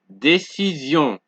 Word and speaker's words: décision: So however, Sion is pronounced like zion when the S in sion appears after a vowel. Example, décision, vision, télévision, division, précision, transfusion, occasion.